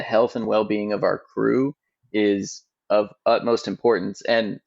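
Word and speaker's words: krewe: utmost importance and and I say crew and even this may show you be a little example like I'm from Southern Louisiana our CEO is from Southern Louisiana and in marra we have Cruz it's spelled with a k k ewe and your Marty gr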